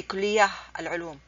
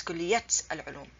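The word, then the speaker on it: كلية العلوم: I did not say kulliyah al-ulum. It's kulliyat al-ulum.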